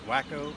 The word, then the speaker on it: Huaco: bet a campground call I don't know how to pronounce it it's Wakko HUAC oh I'm just north